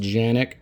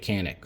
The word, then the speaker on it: Canik: And for anybody who wants to be like, oh, it's pronounced Janik, when I was at the NRA annual meeting, everybody who worked at Canik was pronouncing it Canik, so whatever.